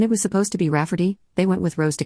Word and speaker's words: Rayfarty: my sister wanting to name my niece Rayfarty, pronounced Rafferty, not at all like Rayfarty.